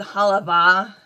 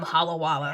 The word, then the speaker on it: Halawa: I have since learned I believe that's they're called Halava. I had quite a few comments of people laughing at me because I pronounced them wrong. I think I was calling them halwa. Added some extra w in the in the title instead.